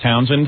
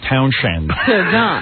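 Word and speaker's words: Townshend: the guy from the whose name is pete townsend and it's spelled t-o-w-n-s-h-e-n-d so john b it became p township yeah but we got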